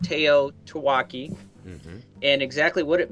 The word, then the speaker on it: TEOTWAWKI: as we know it people pronounce it Teo taaki MH and exactly what